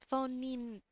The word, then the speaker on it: phoneme: the rules governing the possible Phenom or phono phoneme Venom sequences in the language what does this word pronounce phoneme phoneme phoneme sorry uh phoneme is